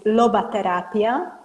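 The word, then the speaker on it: lobaterapia: um my website is Loba therapia it's exactly the way I uh pronounce it it's l o b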